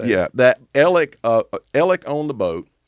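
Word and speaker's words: Alex: is exactly how you say it yeah that elic uh ellick owned the boat and so the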